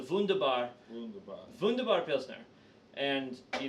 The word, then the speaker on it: Wunderbar: gonna try is called D Vanda bar Pilsner okay you mispronounced it it's the funda bar funda Barfield snare and